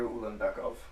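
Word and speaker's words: Ulanbekov: ranked fight good for him how do you pronounce that name tagir tagir ul beckov ul beckov Carpenter is a dog tagir is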